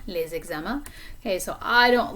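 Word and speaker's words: les examens: that homework okay so notice the liaison here between les and eczema les exama okay so i don't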